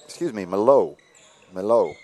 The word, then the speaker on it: Malott: That ball batted away by Andrew Malott. Malo. Just occurred to me, that's how Coach Jones told me he pronounces that last name, Malo.